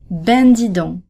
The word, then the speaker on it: ben dis donc: In both of these two expressions, the C is silent.